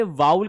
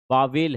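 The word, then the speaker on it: vowel: सर आपने वाउल का pronunciation वाउल बताया है, पर गूगल और डिक्शनरी में इसका प्रोनाउंसिएशन वावेल है। बच्चे वावेल नहीं है, देखो आपके रेफरेंसेस गलत हो सकते हैं, ठीक है ना। This is वाउल sound, this is my dear वाउल sounds.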